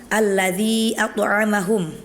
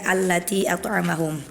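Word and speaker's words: ٱلَّذِىٓ أَطْعَمَهُم: Kemudian di ayat keempat, alladzi atamahum. Tadi ana bacanya allatiamahum.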